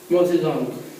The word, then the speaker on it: Mao Zedong: But it's pronounced Mao Zedong.